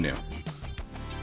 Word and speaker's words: Inu: Inu.